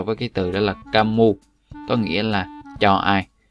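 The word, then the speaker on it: кому: Các bạn để ý trọng âm ở chỗ này cho mình nhé. Đó là chúng ta đọc là kamu chứ không đọc là komu.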